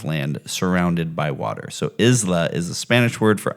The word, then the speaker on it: Isla: So Isla is a Spanish word for island and also a Scottish given name pronounced Isla, which has no relation to the English word isle.